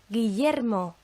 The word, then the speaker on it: Guillermo: When we have a double L together, and that used to be considered, and sometimes still is, a separate letter, and it's so eye, it makes the sound of the English Y in words like yeti or crayon.